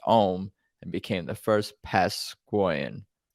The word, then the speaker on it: Eom: Created by the eccentric folk artist Eddie Owens Martin, who in 1957 changed his name to Saint Eom, pronounced Ohm, and became the first Pasquoian.